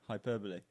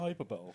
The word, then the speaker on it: hyperbole: how you say it hyperbole sorry it's CL is actually yeah it's not hyperball it's hyperbole I prefer hyperball San has